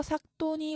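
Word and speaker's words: 삯돈: 자, 삭돈은 여기도 겹받침이 나왔죠. 겹자음, 종성에 오는 겹자음은 대표음 기역이 남습니다. 그래서 여기서 뒤에 오는 디귿이 된소리로 바뀌어서 삭돈이 올바른 발음입니다.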